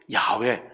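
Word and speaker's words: 야훼: 말씀의이 풀이가 바로 여호와 야외 하나님의 이름이에요 하나님 하늘의 뜻하는 하늘하고 존칭 전미사 예 님하고 해서 하늘 님이세요 그거 아니에요 우리 하나님은 여호와시요이 여호와는 정확한 발음 히브리어 발음은 야외에이 야외라면 여호와라는이 하나님의 이름의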